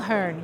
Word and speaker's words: Mulherin: want to make sure I say it correctly, Mulherin. Mulherin. Thank you. Mulherin, yes.